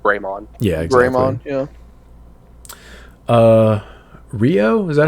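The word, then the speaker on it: Ryo: just consider it grey yeah EXA yeah uh Rio is that how you say his name yes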